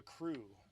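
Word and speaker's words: Krew: to Utah called the crew and that is spelled KR e w not C are aw or see our something anyway the crew is the name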